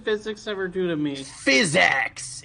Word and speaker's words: PhysX: physics what did physics ever do to me physx it's spelled p h y s and then a